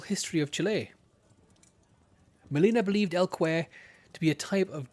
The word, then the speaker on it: El Cuero: El Cuero, from Chile, specifically Mapuche, folklore. I believe correctly pronounced El Cuer, run, or rather swim, under a good number of names.